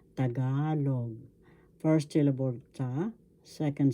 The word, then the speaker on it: Tagalog: know how to pronounce tagalog first board sa second syllable ga third syllable log the accent or the stress is in the second syllable so we say this tagalog tagalog intensifiers in tagalog